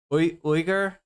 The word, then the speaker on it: Uyghur: I feel as though Weigel is a slight mispronunciation of Uyghur. Uyghur. How much Hasan is personally responsible? At least that's how Hasan says it.